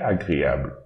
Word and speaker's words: agréable: So this word, we should read agréable. Agréable. Agréable. Agréable.